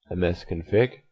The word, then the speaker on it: msconfig: and select run type M SC o n f IG otherwise pronounced MS config that's okay then go